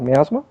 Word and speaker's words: miasma: Miasma?